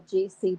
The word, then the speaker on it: Guy: The man produced Guy as G with a hard G, the French way, and blood to rhyme with cod, blod, G-blod, as if Scandinavian.